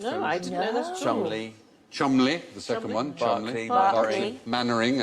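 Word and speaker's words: Cholmondeley: f Shaw yes did you know that was pronounced I know CH Chumley the second one CH maning as in Captain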